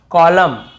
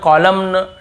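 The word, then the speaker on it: column: को नहीं पढ़ना है जैसे ऑटम कॉलम डैम हाइम तो यहां पे हमें ऐसे ऑटम कॉलमन डैमन ऐसे हाइमन ऐसे नहीं पढ़ना है ठीक है क्लियर हो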